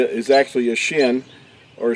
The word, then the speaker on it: shin: W, is actually a Shin, or Shane, how you would pronounce the letter itself. In ancient Hebrew, it would be more pronounced like a Shane than Shin is how it's pronounced in modern Hebrew.